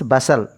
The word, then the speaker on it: bustle: Asal means bustle, BUSTL. Here also T is silent.